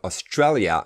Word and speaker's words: Australia: We have Australia, and you emphasize Australia, that syllable.